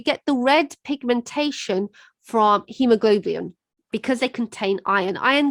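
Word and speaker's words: haemoglobin: thing is it contains hemoglobin now this is a difficult word so let's see if i can spell it it's h a e m o g it's like goblin globin and then the final thing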